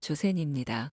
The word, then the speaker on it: 조센: 조선이라는 한자를 일본식으로 읽으면 조센입니다.